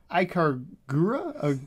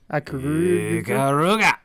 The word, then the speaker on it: Ikaruga: Ikagura? Say it like you mean it. Ikagura? Ikaruga. There you go.